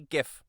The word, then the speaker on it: GIF: sick it should be it should be GIF you know he is hard and solid the Our